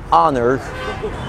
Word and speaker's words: honor: الاتش في الانجليش بتبقى سايلنت في honest، honor، hour، herb، زي herbal tea، وده في الامريكان انجليش يعني عيش بالاعشاب، herbal herbal tea.